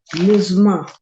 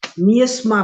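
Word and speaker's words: miasma: of dangerous मिसमा मिसमा इसका मैंने उच्चारण कहीं तो नोट किया है मजमा और मैं तो इसको निस्मा पढ़ रही थी मजमा क्या है विटेड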